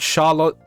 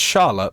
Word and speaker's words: Charlotte: Like I like Charlotte Charlott. I don't remember how to say it. It's Charlotte, but like there's a French spin you have to put on it.